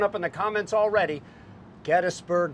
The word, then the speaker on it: Gettysburg: Gettysburg versus Gettysburg. Kris and Kris properly pronounce the name Gettysburg. The guys, and we're eviscerated for it. Oh my God, you're going to just get destroyed. I say it wrong because I like the way Gettysburg sounds, but Gettysburg is correct.